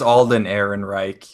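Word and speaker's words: Alden Ehrenreich: want to see this was because I can't pronounce his name Alden it's Alden Aaron Reich Alden Aaron Reich he's obviously you know he's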